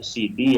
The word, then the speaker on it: Sidi: Namun karena lahjah atau karena cara pengucapan sehingga orang menyebut dengan kata Siti yang maksudnya adalah kata Sayyidati dan menyebut kata Sidi yang maksudnya adalah Sayyidi, ya.